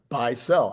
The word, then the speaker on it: Beisel: second time Phil Beisel, because he tells me that's how I should remember to pronounce it is Beisel. I mean, in this channel, that should be, you should be running a channel called Buy and Sell.